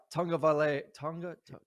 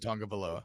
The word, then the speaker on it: Tagovailoa: I like this Maryland offense with Talia Tagovailoa. That's how I've always said it. I could be saying it wrong. I've always said Tagovailoa.